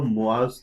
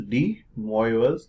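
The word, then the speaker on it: de Moivre: is the moers theorem although it is rightly pronounced as the moas theorem but we will keep with Indian traditions and we'll say what what most Indians say that is D moers theorem so as per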